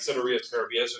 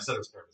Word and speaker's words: ceteris paribus: People who know more Latin than I will sometimes pronounce it something like ceteris paribus or something like that. Ceteris paribus is fine.